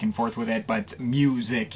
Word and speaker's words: µ-Ziq: only Mike paradinas AKA mic or microz if you want to say it that way I've gone back and forth with it but mic is the official pronunciation at this point I've reviewed this guy's